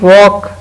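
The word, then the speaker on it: walk: इसी तरह when you वॉक, वॉक पैदल चलने को कहते हैं, इसमें भी एल साइलेंट है।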